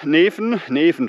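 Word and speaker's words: Netphen: bei Siegen an der bei nett von Neffen spricht man es aus äh im schönen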